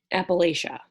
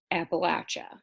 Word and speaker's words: Appalachia: So where I'm from in Illinois, it is pronounced Appalachia. I moved here and I had a ton of people tell me I was wrong, which, I tend to believe the people who live here because they live here, right? It's pronounced Appalachia.